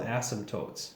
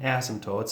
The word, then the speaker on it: asymptotes: part we have vertical asymptotes all right so asymptotes spell kind of weird there's a silent p kind of um and basically what